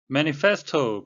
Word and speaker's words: manifesto: manifesto 발음에 유의하셔야 되겠는데요. to가 아니고 toe 해가지고 이중모음이 되겠습니다.